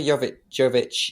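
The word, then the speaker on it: Jović: And Eva Yovich Yovic um I think there's two ways of pronouncing it is like she's definitely the up and cominging next big thing.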